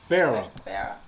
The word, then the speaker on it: Farrar: Farrar. See, I was going to say Farrar. I don't know why I put 3, 4 R's on it. Farrar. All right. So, we're talking with Chenequa Farrar, and we're talking about